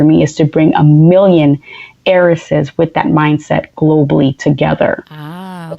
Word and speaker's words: Millionheiress: of the box so a lot of people confuse the Millionaire's Club with the millionaires club they always look at it even though it's spelled differently they still think millionaires but it's million heiress and the reason behind